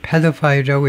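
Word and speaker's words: pedophiles: 맨 앞에다 엑센트를 두고 패드파일이라고 읽을 겁니다. 어린이를 좋아하는 거예요.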